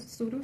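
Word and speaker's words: pseudo: The next term is सूडो statement. इसमें ये भी साइलेंट, इसलिए ये सूडो स्टेटमेंट है, जो कि फॉल्स एंड फेक होती है, नॉट रियल फैक्ट।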